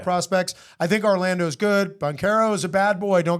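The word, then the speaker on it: Banchero: It's Boncaro or Bonchero. I'm not 100% sure. I think you said it right the first time.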